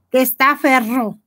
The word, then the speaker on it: testaferro: Sí, Gordis, no la dijo bien, la dijo con una sola R, la pronunciación es R. Ah, testaferro.